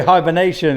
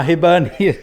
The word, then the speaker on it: Hibernian: I was going to say hibernation because that's where we need to go, but no, Hibernian.